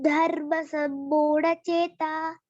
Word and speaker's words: धर्मसम्मूढचेताः: चेताः, विसर्ग का ध्यान रखिए, कोई भी विसर्ग का ध्यान नहीं रखना। विसर्ग का ध्यान रखिए क्योंकि यदि हम विसर्ग उच्चारण नहीं करेंगे तो उसका कोई और अर्थ निकल जाएगा।